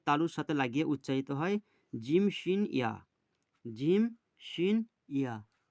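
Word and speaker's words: جيم: এখানে বলা আছে যে জিভের মাঝখান এবং তার বরাবর উপরের তালুর সাথে লাগিয়ে উচ্চারিত হয় জিম, শিন, ইয়া।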